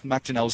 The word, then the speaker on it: McDonnell: So it's Mac. Yeah, McDonnell's the true way. It's two N's for McDonnell.